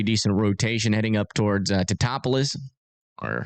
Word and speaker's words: Teutopolis: Yeah, still some pretty decent rotation heading up towards Teutopolis. Or, how do you say that? Teutopolis.